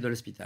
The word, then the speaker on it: de l'Hospital: prononce correctement, avec Michel, je ne sais pas si on dit de l'Hospital ou de l'Hôpital. Michel de l'Hospital.